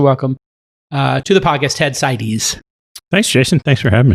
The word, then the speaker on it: Seides: And Ted Seides, did I pronounce it correct? Seides? Seides. Yeah.